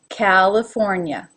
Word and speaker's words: California: cali cali it's a it's the relaxed a california yeah so neither of the eyes in this word are pronounced like a sharp e sound california california colorado now different